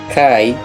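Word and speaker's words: καί: misericordia y la paz que vienen de Dios el Padre también vienen de Jesucristo, porque es algo curioso esta conjunción copulativa kai, que se pronuncia que, también puede significar también.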